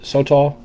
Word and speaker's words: sotol: And I'm going to pronounce it sotol with like really no accent on either ones. Uh I've heard you know, maybe a little bit on the first syllable.